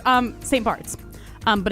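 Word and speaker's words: St. Barths: No, it's um St. Barts. Um, but it's spelled B A R T Hs.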